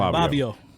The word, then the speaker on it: Fivio: Fivio. Fivio, like Fabio. Yeah, With a V. with a V. With a V, Fivio.